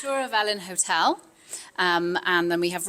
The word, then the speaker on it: Twr y Felin: It's a little hard to pronounce for my American tongue. It's Tour of Ellen Hotel.